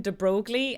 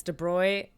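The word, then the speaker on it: de Broglie: I'm sorry I'm sorry I made four videos pronouncing him de brogle and then we realized it's de Bry or something of that so we we call him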